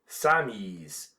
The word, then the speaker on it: Sammies: The French then followed the suggestion of one of the American correspondents and began to call the soldiers Sammies, or as the French pronounce it, Samis.